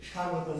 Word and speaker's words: স্বাগতম: আকার গ আর ত এটার উচ্চারণ কি স্বাভাগত স্বাভাগত না প্রধান অতিথির আগমন স্বাভাগতম স্বাভাগতম তাই না প্রধান অতিথির আগমন স্বাভাগতম স্বাভাগতম স্বাভাগতম কি স্বাগতম ব এর উচ্চারণ আমরা করবো না আমরা যখন দীর্ঘ এ